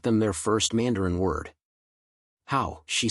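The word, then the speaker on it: 好: "How?" she said, pronouncing it carefully.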